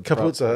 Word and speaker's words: Capuozzo: I think is the Capuzzo, that's right. That's the correct pronunciation.